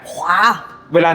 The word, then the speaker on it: Huawei: ฮูก หรือ หอ หีบ แต่ ใน ความ เป็น จริง แล้ว ถ้า จะ ออก เสียง ให้ แบบ เี จริง ๆ เ จะ ออก ขวา ขวา อ้า ใจบ ขาก อ่า มี ขาก นิด นึง แต่ อย่า อย่า ขาก เยอะ เกิน ไป อ่ะ ขวา เว เหว โอเค ขวา เห